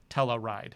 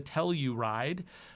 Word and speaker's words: Telluride: go ahead and or as many viewers told me Telluride I guess I kind of got a little sloppy with my pronunciation in this video quite a lot calling it the teller ride but it's the Telluride you can tell I've